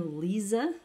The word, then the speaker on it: Lisa: is just fine um in terms of spelling and pronunciation it's just regular lisa there's no lisa there's no z there's no just regular old lisa the story behind the